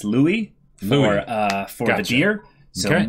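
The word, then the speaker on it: Louis: all right and it's Louie lure for the jeer so more and more the French pronunciation there but yeah those are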